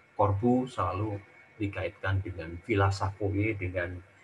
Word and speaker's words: Savoye: Jadi kita bisa lihat bagaimana Villa Savoye itu, Villa Savoy itu bacanya, itu sirkulasinya menerus, kemudian